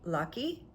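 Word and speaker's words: Løkke: And by the way, Denmark's foreign minister, and I might not say it properly, L-O-K-K-E, like maybe Lucky, Rasmussen, is on fire about this.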